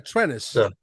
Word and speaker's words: Trennis: It's funny, but it's Trenus. It's like tennis with an R. Trenis.